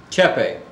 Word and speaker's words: CHEPE: I want to begin by asking you about the history of CHE.P.E. Chepe. Actually, a lot of people do mispronounce it, but it is pronounced Chepe.